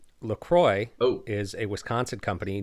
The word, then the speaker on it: LaCroix: weigh in on how this is per night pronounced Lacroix oh is a Wisconsin company near the look Froy river so it is in fact and you